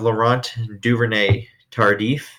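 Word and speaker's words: Laurent Duvernay-Tardif: They have Laurent Duvernay Tardif, I believe is how you say it.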